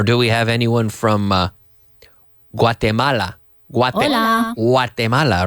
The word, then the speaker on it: Guatemala: Or do we have anyone from Guatemala?